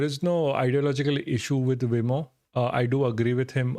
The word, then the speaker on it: Vimoh: Wimo, like M-O-H, Mo. Anyway, so we were talking about Wimo next.